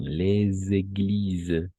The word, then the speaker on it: les églises: Et ici, on va faire la liaison. Les églises. Les églises, oui, comme ça.